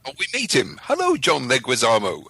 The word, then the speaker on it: Leguizamo: Leguizamo. That is how you say his name. Leguizamo. It's almost like an Italian dish. Leguizamo. Say it with me now. Leguizamo. Bye. Bye. Leguizamo.